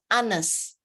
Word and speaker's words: honest: So you can just say it, okay, 2 or 3 words that can be really, for example, honest, the H is also silent.